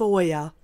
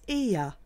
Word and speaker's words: Oia: Our first stop was the village of Oya, which is actually pronounced Ia.